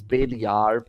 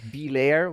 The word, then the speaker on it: BelAir: or Bailey are and this is something hard to pronounce in English but that was my first name when I got into TrackMania and let's be honest no English person is able to pronounce Bailey are properly it's alright it's always be layer which would be funny